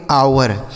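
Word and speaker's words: hour: देखिए यहां H silent है तो इसको हम पढ़ेंगे आवर।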